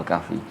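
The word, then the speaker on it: الكهف: begitu juga dengan kata alkahfi e kalau surah Ali Imran itu ya Ali imrana bukan imrani bukan imronu imrana cuma kita enggak biasa mewakafkan kan imranah surah alkahfi kalau diwakafkan bacanya alkahf Kahf surah alkahf Saya pernah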